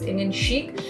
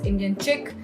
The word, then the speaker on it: Indian Chic: sophisticated like Parisian so that is how it was Indian Chic but often it was being pronounced as Indian chick and um I took